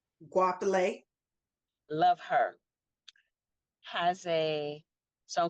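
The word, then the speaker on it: Goapele: Is it Wapale or Gopele? Guapale.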